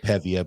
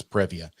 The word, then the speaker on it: Previa: like a squished previa he said pebbia but i'm going to assume he means previa and jake isn't wrong